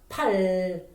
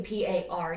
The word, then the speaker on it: 팔: And even though you roll up the tongue, it almost kind of make R sound, but not exactly R. It's a simpler and then less complicated R.